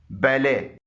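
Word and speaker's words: ballet: से निकल रही है टी कुछ अल्फाज में साइलेंट भी होता है जैसे इन फ्रांसीसी जबान से अखज किए गए अल्फाज में खामोश है बैले गोर मेंे रेपो बुफे डेब क्रोशे बैरे वगैरह में टी साइलेंट है इसके अलावा भी टी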